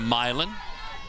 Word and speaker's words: Milan: Got a younger sister in Milan. Wanted to say it right there. That one is popped foul. Milan's in Italy. Milan's in Illinois. She dreams of Auburn someday, one of her dream schools.